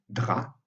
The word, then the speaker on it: drap: le P se prononce, mais on a aussi drap, dans lequel le P ne se prononce pas.